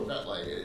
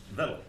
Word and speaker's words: Vettel: He's also foretold Vetlei's, is it Vettel or Vetley? It's Norse. I took a Norse name. Vettel.